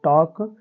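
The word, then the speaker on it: talk: में हम क्या करेंगे एल को नहीं पढ़ेंगे अर्थात एल क्या हो जाएगा बच्चों साइलेंट हो जाएगा इसका उच्चारण नहीं करेंगे तो क्या हो जाएगा टी ए के टॉक डब्लू ए के वाक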